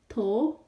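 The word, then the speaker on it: 头: To, to, to.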